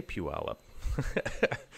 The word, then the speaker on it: Puyallup: fairly soon you can you can tell that I'm a local because I know how to say Puyallup I I realized there's